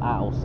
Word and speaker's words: Ouse: Is it Ouse or Ouse? I'm pretty sure it's Ouse, because that's how the one in York is spelled, is pronounced.